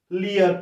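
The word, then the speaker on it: Lear: লিয়ার, কিং লিয়ার, রাজা লিয়ারের গল্প, এল ই এ আর, লিয়ার, ইয়ে, এখানে দেখো লি, ই, ইয়া ইয়া, লিয়ের, ইয়ের উচ্চারণ ইয়ার মতো হচ্ছে, যদিও ইয়ের সাথে যুক্ত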